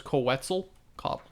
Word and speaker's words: Quetzalcoatl: I really can't comment, but the point being, you gotta act like you're saying pretzel, so it's Quetzalcoatl.